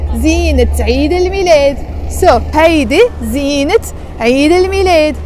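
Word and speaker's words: زينة عيد الميلاد: But the moment you follow it by Eid al-Milad, you can't say Zine Eid al-Milad. You have to say Zinat Eid al-Milad.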